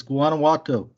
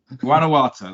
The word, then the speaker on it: Guanajuato: You make it too hard to pronounce. It's Guanajuato. Guanajuato, that's it.